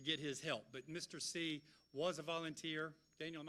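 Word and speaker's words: Seay: Jim C., which is spelled S-E-A-Y, was an attorney here in town for many, many, many years.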